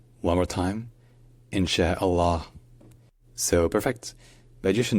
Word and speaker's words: Inshallah: silent so put it all together and it's insh Allah in Allah or sometimes in but again the U at the end is mostly silent so let's practice together insh Allah insh Allah one more time insh Allah so perfect but you should know that depending